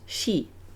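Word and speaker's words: 四: number four is pronounced she uh the same as the word for death oh and it's considered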